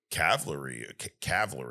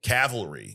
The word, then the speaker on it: cavalry: about like where the cavalry is, right? Mm-hmm. How do you say cavalry? Cavalry. There's no like caval. The L is after.